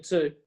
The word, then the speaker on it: two: Well, it takes a minute or two. By the way, you don't pronounce the W in two.